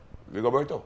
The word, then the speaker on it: Rigoberto: How pronounce the first name? Rigoberto.